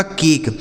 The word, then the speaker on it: cake: उसके बाद देखिए के से फिर हो गया क, इस ई का उच्चारण नहीं होगा, यह लिखा गया आपका केक।